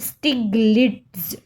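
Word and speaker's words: Stiglitz: Joseph स्टिग्लिट देखिए आप इसको प्रोनाउंस कर लीजिए। कई बार क्या टंग ऐसे हो जाती है स्टिग्लिड्स जोसेफ स्टिग्लिड्स तो इसके इनकी बुक कौन सी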